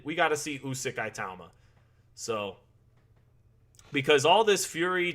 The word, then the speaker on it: Itauma: Moses Itauma.